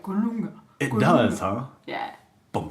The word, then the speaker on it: Colunga: Technically, it's Spanish, so it's Colunga. Okay. Colunga. Yeah. That's a lot of fun. That's awesome. Very fun. Colunga. It actually sounds very tribal, like Colunga.